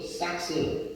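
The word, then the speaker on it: σάρξ: 예수 안에서 성령 안에서 이끌려져 있을 때는 육체 사르크스, 삭스 이렇게 발음을 하기도 합니다만은, 그런데 육체가 정죄함을 받지 않을 때도 있다.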